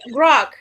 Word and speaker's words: Grok: It rhymes with stock. Cock? Grok. It's Grok. It's called Grok.